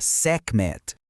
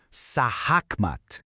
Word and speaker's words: Sekhmet: O próprio nome dela, Sekhmet, ou Sahakmat, na pronúncia mais próxima, já entrega o jogo.